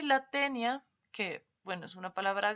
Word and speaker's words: tenia: tenía y la palabra tenia se dan cuenta que incluso cuando nosotros hablamos de esto lo pronunciamos de manera distinta no en la fuerza de nuestro esfuerzo de voz está en otra parte tenía y tenia hablamos